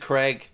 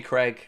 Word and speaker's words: Craig: Or pronounce it Craig. Oh, that's standard. That's standard issue, you know. And it's not just me. It's anyone with my name is pronounced Craig in the States, 100%.